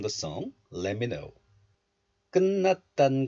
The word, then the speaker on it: 끝: This letter is pronounced as kut in isolation, kut. The final consonant tiut belongs to tigut group, t group. But this final consonant tiut is followed by the nasal consonant niun of the next letter.